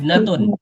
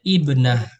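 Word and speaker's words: ابنة: Ibnatun. Ibnatun. Ada ta marbutah ya. Ini ibnatun. Ibnatun. Kalau mau diwakafkan bacanya ibnah.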